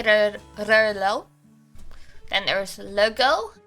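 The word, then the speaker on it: Rheault: like the uh is spelled r h e a u l t but you say rlo then there's logo l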